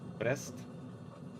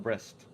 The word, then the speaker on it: Brest: And I know I should probably not pronounce it as in English. Brest. Probably Brest. With more pronunciation of the E. Instead of breast.